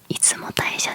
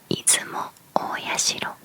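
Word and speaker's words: 出雲大社: 読み方は出雲大社ではなく出雲大社である。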